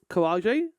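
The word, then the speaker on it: karaage: Simple bento with um karaj. Also that's character development for me. I didn't say carage. I said kaj because that's that's how that would be pronounced in uh Japan I think.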